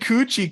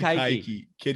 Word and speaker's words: Keuchel: Kid Coochie carved up the Red Sox the other day. Kid Keuchel. Say it right. Kid Keuchel.